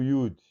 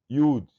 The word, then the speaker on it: Yud: É uma consoante também, mas tem o som de Y, como nós pronunciamos o Y.